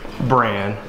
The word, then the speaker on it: Bran: It is actually Bran, not Braun.